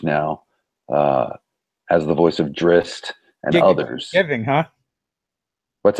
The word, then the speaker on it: Drizzt: really a thrill we had four years we pronounced that Drizzt I talked to the the aridity uh everyone